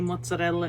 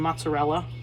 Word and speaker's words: mozzarella: isn't it beautiful mozzarella learn how to roll your rs it just sounds so much better when you say mozzarella instead of mozzarella or if you're in